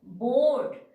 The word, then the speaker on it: bored: That means if after E, if D is there, then also E sound is silent.